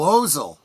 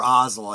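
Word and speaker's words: Ozzel: So uh of course he receives his uh promotion to admiral when uh uh when uh Admiral Ozel or Ozel I think is is how Vader pronounces it.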